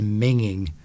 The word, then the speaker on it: minging: You don't have to pronounce the G in the middle, do you? You can sort of scoot over that. Oh, she's minging.